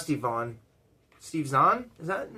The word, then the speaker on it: Zahn: Steve Zahn? Is that not how you pronounce his last name? Steve Zahn, yeah.